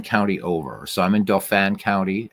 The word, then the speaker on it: Dauphin: So I'm in Dauphin County, as the Pennsylvanians incorrectly pronounce it Dauphin County when it's Dauphin.